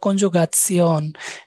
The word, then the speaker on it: Konjugation: এটার উচ্চারণটা সিয়ন এরকম একটা উচ্চারণ হয়। যেমন ইনফরমেশনকে বলা হয় ইনফরমাসিয়ন, কনজুগাসিয়ন। ওই যে সিয়নটা শিয়ন, ইয়ন। ইংরেজিতে তো শিয়ন, এটা সিয়ন হয়ে যায়।